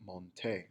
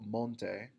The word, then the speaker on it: monté: You do not want to say yo monte with the emphasis on the mon. You need to put the emphasis at the end of the word yo monté a caballo.